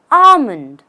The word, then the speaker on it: almond: or nuts of prunus have you ever said almond or almond the only way to pronounce this word correctly is by eliminating the L the right way is Armond just say Armond she added a handful of armonds to her Morning cereal easy just Armond without the L the next word is